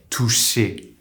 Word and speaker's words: touché: Say the English word STAY, keep that È sound in and close your mouth in a line shape and say É, É. Now say TOUCHÉ.